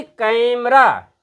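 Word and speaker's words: camera: ई आर ए कैरा लेकिन जब हम इसका उच्चारण करेंगे तो सबसे पहले यह इस पर हम स्ट देंगे कै पर क जोर तक खींचेंगे दो जोर तक हम इसका उच्चारण करेंगे क देर तक फिर इस पर एम ई इस पर स्ट्रेस नहीं देंगे और आर ए पे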